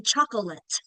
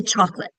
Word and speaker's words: chocolate: Same thing with chocolate. We don't say chocolate, we say chocolate.